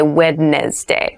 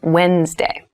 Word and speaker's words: Wednesday: this is pronounced wednesday there's a d there but we don't say wednesday we say wednesday wednesday the 18th wednesday